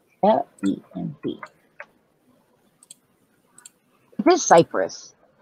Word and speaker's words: Lemb: It's L-E-M-B. It is Cyprus. It's just Lemb. Whatever. I thought it was a bit more confusing than that, but no, it's just limb. So, the bee is silent.